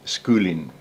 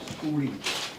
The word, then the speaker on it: Schooling: Schooling, as in school, ing.